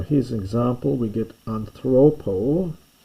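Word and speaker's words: ἀνθρώπῳ: We get anthropo. You don't pronounce it, but there's a little iota written down the bottom here.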